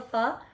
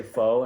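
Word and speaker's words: phở: It's called Spill the Pho. I know how to say it right. Yes, you do. Oh my gosh, yes. Some people say faux, and I'm like, what are you doing?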